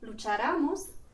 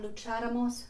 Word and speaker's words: lucháramos: For example, if we didn't have that accent on that syllable, we would have to pronounce the words lucharamos, venciéramos, and eligiéramos, which is incorrect.